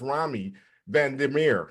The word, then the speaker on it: Romy Van Der Merwe: I'm your host, Coach Mo, and I'm here with another exciting guest, and her name is Romy Van Der Merwe.